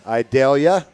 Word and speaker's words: Idalia: uh that went through idalia yeah I pronounced that right I'll tell you I always think of the onion Vidalia so I went with I dare you and now and it